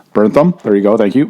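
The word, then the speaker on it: Bernthal: my god i can't say his name jen burntham burntham there you go thank you maddie will be the guy's name he will pronounce the guy's names when i can't do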